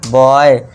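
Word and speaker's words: boy: बॉय टी ओ वाई टॉय।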